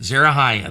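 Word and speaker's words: Zeruiah: sons uh of uh uh zaru I huh Zara Haya that's how you say it zerohaya there zerohaya is David's sister okay so that's joab and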